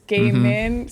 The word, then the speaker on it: Gaimin: I want to go Gaimin Gladiators because it's almost spelled like Neil Gaiman, but it's Gaimin. So it's, and it also kind of sounds like gaming.